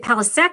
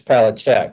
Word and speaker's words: Palach: So the old country Czechoslovakia, it's Palach. So you you were you were right on as far as the original pronunciation. We say palisk here in the United States.